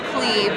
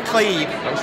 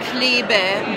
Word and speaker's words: Klebe: It's Klebe. Klebe. You know, if you were in Germany or somewhere in Europe, it'd probably be Klebe, but that's impossible to say, so forget about it.